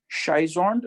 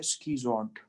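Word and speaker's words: schizont: शाइजोन्ट इसका सही प्रोनाउंसिएशन नहीं है, इसका असल प्रोनाउंसिएशन है स्कीजोन्ट।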